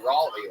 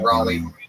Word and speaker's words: Raleigh: Say Raleigh.